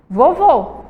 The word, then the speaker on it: vovô: gente tem aí ó tem médico e tem vovô vamos lá médico você vai ver que a sílaba tônica de médico é um É certo